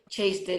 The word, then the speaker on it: Chastin: Am I pronouncing that right, Chastin? Chastin. It is Chastin.